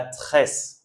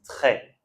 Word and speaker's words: très: Et ici, on ne prononce pas le s d'accord ? On dit pas tress, on dit trait.